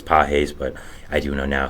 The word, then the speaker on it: Pages: the Dodgers Andy peses I did pronounce it Pages um which was completely my fault I did not know as peses but I do know